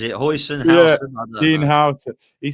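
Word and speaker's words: Huijsen: I believe it's Howson, how you say it. I just say Hoyson because I'm sure I ordered that in the Chinese takeaway one. You know what I mean? Yeah, Dean Howson, is it?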